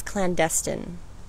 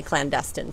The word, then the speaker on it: clandestine: she said, "You know, I believe it's clandestine." And I said, "Oh yeah?" And she said, "I was in the CIA, and that's how we pronounce it." And I was like, "Well, that's as official as you can get. If that's how the CIA says it, I'll say clandestine from now on."